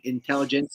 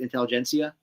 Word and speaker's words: intelligentsia: now teasing the I always say it wrong intelligents yeah does everybody say it Intelligentsia yeah which which obviously they made the announcement